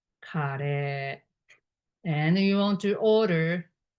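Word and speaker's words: カレー: You want to order Japanese curry, which is pronunciation is kare, kare, kare.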